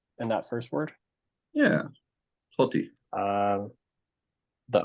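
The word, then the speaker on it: ὅτι: Oh, So he because thinks Jaden, this- don't you pronounce like logos or pronounce that think like hati. ah? Yeah. No. It's Hoti.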